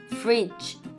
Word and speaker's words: fridge: ย่อ เหมือน ของ ไทย fridge fridge นะ คะ fridge ตัว G E ออก เสียง เบา ๆ เหมือน จอ จาน เบา ๆ นะ fr มี ม้วน